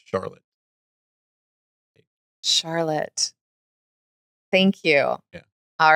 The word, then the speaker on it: Charlotte: Charlotte. Thank you. Yeah. All right. It's Lawlish and Charlotte. We'll get our pronunciations one day.